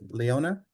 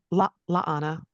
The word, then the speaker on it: La'ana: if I'm mispronounce it, Leona? La'ana. La'ana, thank you. And I Yes. apologize, I'm gonna mispronounce that 2 more times. Just think of La'ana. Christmas. Fala lala. Fala lala. Okay, La'ana.